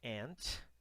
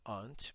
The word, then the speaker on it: aunt: Aunt, americano, ou aunt, britânico, né?